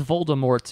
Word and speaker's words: Voldemort: real quick it is Voldemort in the movie he's correct with a T yes because she also came out recently I think if you want to go and said the T is silent I know I know